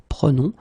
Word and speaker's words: prenons: Okay, keep in mind that you should pronounce it prenons, vous prenez, and then the last one, the tricky one, ils prennent.